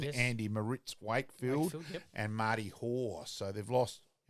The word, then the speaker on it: Marty Hoare: So, that they've lost, as we said, let's get his correct name pronunciation, Andy Moritz Wakefield and Marty Hoare.